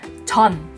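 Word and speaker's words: Jeon: Banyak yang pasti bacanya Jun Ji Hyun, Jun Ji Hyun. Di Korea juga nggak ada marga yang namanya Jun. Yang benar bacanya adalah Chon. Chon. J-E-O-N bisa juga ditulis.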